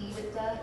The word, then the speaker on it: EBITDA: And this letter, this line of the letter that talks about the EBITDA, is that how you say it?